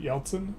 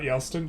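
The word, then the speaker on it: Yeltsin: Yeltson pronunciation Yelten, not Yelston, Yeltson.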